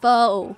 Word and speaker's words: faux: it fox leather uh it's pronounced faux jacob oh leather not fox leather i'm missing a lot